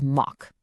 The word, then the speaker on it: Moq: stands above the rest, a library called mock, that's spelled M-O-Q.